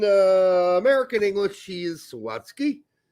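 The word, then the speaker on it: Zawadzki: Zawatski. Thank you. I'm not sure why I put the wrong emphasis on the wrong sals. In German, he would be pronounced Zavatski.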